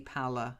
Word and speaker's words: pallor: He's my pal. Pal. Pallor, okay?